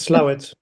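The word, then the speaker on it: Slaithwaite: slate weight and uh someone told me that you pronounce it as slow it or something yeah leave it up to the British to come up with a very creative pronunciation okay that's off topic it's slow it slow it okay um yes so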